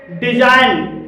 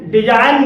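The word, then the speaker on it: design: डिजाइन, डिजाइन में जी के बाद एन आया है और यहाँ पर भी जी साइलेंट है।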